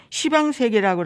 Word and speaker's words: 시방세계: 이 열십자를 불교에서는 시로 읽는데요. 그 제가 제일 옛날에 공부할 때 이걸 몰라가지고 십방세계라고 그랬다가 네, 야단 맞은 적이 있었습니다. 근데 불교에서는 이거를 십방이라고 읽지 않고 시방이라고 읽어야 된대요.